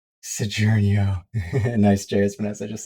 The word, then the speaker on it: Saguaro: As pronounced Sojournio.